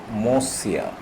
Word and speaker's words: Monsieur: It is pronounced as Monsieur.